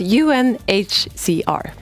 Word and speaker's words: UNHCR: once and for all so it's un as in the United Nations un HCR un HCR it took me